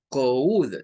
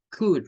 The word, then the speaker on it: could: No es como decir could, no, nada que ver con eso. Es could nada más. Es con una u corta.